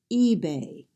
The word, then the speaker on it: eBay: first syllable is stressed maybe the next word is EBA a common website in the United States the first syllable is stressed eBay now we're going to